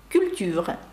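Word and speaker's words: culture: Ви бачите, два звуки «ю» наприкінці літера «е» не вимовляється і виходить «культура».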